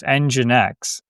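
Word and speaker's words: NGINX: you uh you read like the history of EngineX, so EngineX, it's spelled NG I NX.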